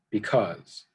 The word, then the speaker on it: because: Be is the unstressed syllable, cause is the stressed syllable. So when you say that word, you kind of place emphasis or stress the second half of the word, because.